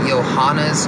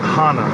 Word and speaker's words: Joanna: There's something about Johanna's striking. Say her name fact right. that she throws. Johanna, not Hana.